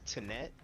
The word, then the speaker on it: Tenet: I think it's pronounced Tenet, spelled T-E-N-E-T.